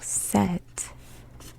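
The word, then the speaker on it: 셋: Now, remember when I told you that the S letter, this one, when put at the end of a syllable, becomes a T sound. So set is written like this.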